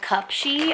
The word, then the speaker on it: Cupshe: company that I got these from is called cup Shi and it is spelled CU p sh e and what I